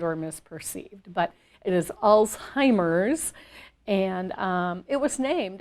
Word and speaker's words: Alzheimer's: and many people you know associate it with old timers which to me is kind of a derogatory term but it's just very miss often mispronounced and or misperceived but it is alzheimer's and um it was named after i believe